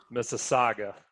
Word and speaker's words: Mississauga: And it starts with an M, and the best I can do is Mississauga. Oh, so close. Okay. Mississauga.